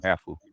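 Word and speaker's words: hāfu: The half girls the halfs are bad. The half I mean when I when I heard them pronounced they call them hau but half Yeah.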